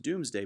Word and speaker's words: Domesday: and this becomes known as the Domesday book or sometimes pronounced doomsday book and that is the